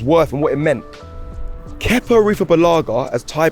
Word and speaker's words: Kepa: Kepa Arrizabalaga, as Ty pronounced it, Arrizabalaga, silent Z, is very good business.